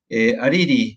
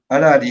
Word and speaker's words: Harari: Hariri, ¿no? Era el apellido, no me acuerdo la pronunciación. Yuval Noah Harari. Harari, está bien, sí, igual que el psicólogo argentino.